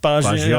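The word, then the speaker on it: Bagioli: You should Baggioli, right? So Matt likes you got to say it like that. Baggioli.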